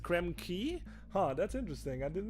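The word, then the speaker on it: Krem Quay: Arcanu says it's pronounced key, apparently. Key? Oh. What do you mean? Like Bayou? Or, oh, Quay? Oh, is it Krem Key?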